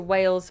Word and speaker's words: whales: Now, orca is and if we refer to whales plural, like this one, it's exactly the same pronunciation as the country whales.